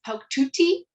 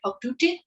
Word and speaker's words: Pauktuutit: It's Pauktuutit. Some people do pronounce the last T, but it kind of really depends on the region of Inuit Nunangat that you're from. So some people say Pauktuutit, but yeah, so there's some variation allowed.